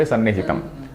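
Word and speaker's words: सन्निहितम्: Sannihitam is not Sat plus Nihitam Sam plus Nihitam. So that is why in this text also you put you see the dot on Sa. Sannihitam But while pronouncing we say Sannihitam.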